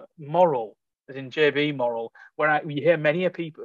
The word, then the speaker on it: Morrell: and actually writing down it's Morrell as in M-O-R-A-L and not Morrell with a score on the, with the underline on the L.